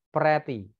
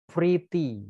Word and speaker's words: pretty: kuat pretty artinya cantik hati-hati membaca pretty ya bacanya bukan Preity bukan fredita bacanya pretty yang benar pretty ya semuanya kebanyakan kakak-kakak